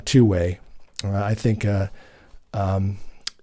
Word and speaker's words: 2wai: And for those listening, it's uh the company is 2WI uh pronounced uh two-way.